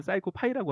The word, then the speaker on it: PsychoPy: 사이코 파이를 치면 됩니다 제가 처음에 사이코 파이를 사이라고 읽었어요서 어 코피 사이코 해서 사이코가 훨씬 익숙하거든 근데 이제 실제로 정확한 발음은 사이코 파이라고 하더라고요 그죠 자 사이코 파이를